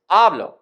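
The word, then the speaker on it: hablo: present yo form is ablo with the first syllable stress but the word ablo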